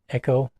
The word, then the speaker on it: Eco: But anyway, it is the book of legendary lands by Alberto Eco Echo. How do you pronounce his last name? echo.